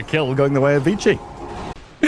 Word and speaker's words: Vici: trade out and honestly a bigger kill going the way of Vichi if we go by like quote unquote correct pronunciation.